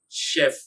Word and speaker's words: chef: How about this one? Chef. Chef. That's how it should be pronounced.